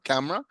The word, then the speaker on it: camera: say exactly like me camera camera but that's the way the the the the American pronounces it two syllables a camera all right let me